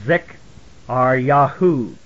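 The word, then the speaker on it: Zekaryahuw: It was Z-E-K-A-R-Y-A-H-U-W, and it's pronounced Pro-Zik-R-Ya, or Zik-R-Yahu.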